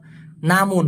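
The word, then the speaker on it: namun: বলা যেতে পারে নামুন ওই যে শুরুতে বললাম নামুন মামুন না কিন্তু নামুন উচ্চারণটা কি হবে নামুন আর এটা হলো তে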